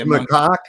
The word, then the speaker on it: macaque: Oh yeah, It's macaque. It's pronounced macaque.